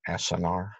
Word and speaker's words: acinar: So that's why they're called acinar cells, A-C-I-N-A-R, I believe is the way it's spelled.